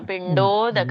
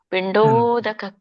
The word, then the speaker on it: ಪಿಂಡೋದಕ: ಕರೀತಾರೆ ಎಲ್ರೂ ಅದು ತಪ್ಪಾಗಲ್ಲ ಪಿಂಡೋದಕ ಕ್ರಿಯಾಹ ಸರಿ ಬಂತು ಆಗ್ತದೆ ಮಾತಾಜಿ ಹೇಳಕೆ ಇಲ್ಲ ಅದಕ್ಕೆ ನೀವು ಸ್ವರ್ಣೆ ಅಂತ ತಿಳ್ಕೊಂಡು ಬಿಡಬೇಕು ಅದನ್ನ ಇವೆಲ್ಲ ಏನು ಬರುತ್ತೆ ಅನುಸ್ವಾರಗಳೆಲ್ಲ ಪಿನ್ ಬರುತ್ತೆ ಪಿಂಡೋ ಅದು ಆ ಅನುಸ್ವರ ಅಷ್ಟೊಂದು ಪ್ರೊನೌನ್ಸ್ ಆಗಲ್ಲ ಸ್ವಲ್ಪ ಅಲ್ಪ ಪ್ರಮಾಣ ಮಾತ್ರ